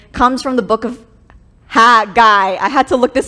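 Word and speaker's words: Haggai: pronunciation and someone said it's like ha you're a guy ha guy so in the book of hagai chapter one it's this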